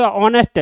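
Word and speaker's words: honest: बेशक एच है लेकिन साउंड क्या इसमें? एच साइलेंट रहता है। इसमें एच साइलेंट रहता है। इसलिए यहां पर क्या हुआ? ओ की साउंड आई।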